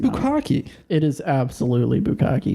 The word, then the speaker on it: Bukkake: And then she said, by the way, it's Bukkake, not Bukkake. Yo, This is bullshit.